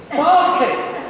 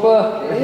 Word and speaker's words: Berkeley: For invoking the great spirit of George Berkeley, Bishop of Cloyne, and pronouncing Berkeley, because most Americans think he's the university and call him Berkeley.